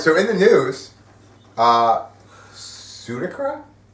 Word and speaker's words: Suidakra: Suidakra. Suidakra. Suidakra. Absolutely. Right. Which is a cool name, actually, now that you pronounce it like that.